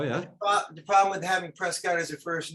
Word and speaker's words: Prescott: and by the way, in England, they call me Prescott. That's the pronunciation.